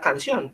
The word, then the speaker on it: canción: ¿Dónde tiene el acento esa palabra canción? ¿Qué me quiere decir? Sion. Ah, Sion. en Sion. Porque si no O sea, diría canción. exacto, si no diría canción, ¿cierto?